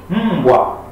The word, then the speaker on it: mbwa: Now this the ma here is pronounced inside. From within, it is mbwa.